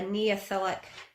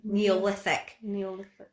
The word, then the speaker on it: Neolithic: And this is backed up by a Neolithic, I've said that wrong again, haven't I? Neolithic.